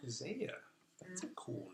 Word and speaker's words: Zaya: Zaya. Zaya. That's a cool name. How do you spell that?